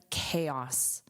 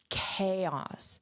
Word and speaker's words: chaos: Chaos. So, this c h is pronounced as k, k.